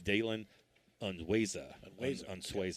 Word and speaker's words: Dalen Unweza: It's Dalen Unweza is how they pronounce that.